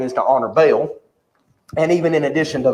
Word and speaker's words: Baal: contemporary Old Testament Scholars they will say it should be pronounced ball not B well I grew up hearing at Bale so it's gonna be